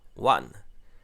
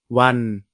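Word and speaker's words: วัน: Ce qui donne "wan". Maintenant, si on s'intéresse à la tonalité, toujours pas de signe de tonalité. La syllabe se termine par une consonne sonore, donc elle est vivante. Enfin, la consonne initiale est basse, donc le ton est plat. On obtient donc wan Encore une fois, un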